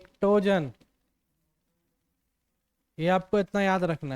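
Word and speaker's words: pnictogen: बताया ठीक है भाई टोजन पी साइलेंट है पी साइलेंट है निक टोजन पर लिखाता है पी एनई पर पी को पढ़ना नहीं है प साइलेंट रहेगा क्लियर है चलो भाई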